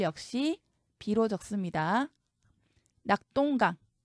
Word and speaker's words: 낙동강: 별 역시 비로 적습니다 낙동강 똥으로 소리 나지만 동으로 적습니다 합정 쩡으로 소리 나지만